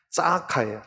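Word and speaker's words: צְעָקָה: 이것은 짜카예요. 짜카. 째다카, 짜카. 비슷한 발음이죠.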